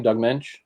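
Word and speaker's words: Doug Moench: Is that how you pronounce the name, Doug Mensch?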